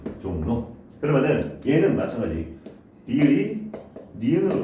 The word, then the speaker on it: 종로: 발음이 어떻게 돼요? 종로 이렇게 되죠. 종로.